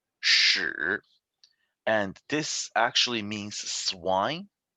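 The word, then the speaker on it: 豕: Most people probably, a lot of Chinese people don't know this, but it's pronounced it 屎.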